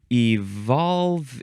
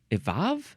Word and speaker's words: evolve: Um, evolve, evolve, evolve with no L.